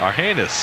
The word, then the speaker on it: Argenis: Aguila Reyes, or Argenis Reyes. Is that his name? That's how you pronounce it. Argenis.